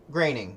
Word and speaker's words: Groening: fifth grade is it is it grainy that's how you pronounce it graining yeah not groaning i always thought i